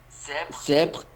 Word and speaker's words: Sèvres: Alguien que estudie francés, a ver, Maltos, ¿cómo se pronuncia esto? Si no, le voy a mandar correo a Andrés. Sèvres.